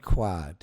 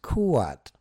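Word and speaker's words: Khuad: And, uh, it's not quat. It is kuat as in k o o hyphen a t kuat.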